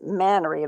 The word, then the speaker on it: Manory: she said it's FYI it's manory like Canary but with an M so caner maner lenda